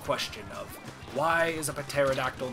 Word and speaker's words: pterodactyl: because it's like, okay, why is pterodactyl the way that it's pronounced when there's a P in front of the T? Like, why is the P silent?